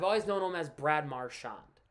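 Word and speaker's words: Marchand: him as Brad marand if you call him marshand I'm not really going to worry I was kind of cringe a little bit because I don't I don't like it pronounced like that I'd prefer everybody calls him marshand but and plus it sounds better Mar instead of mar sh you know what I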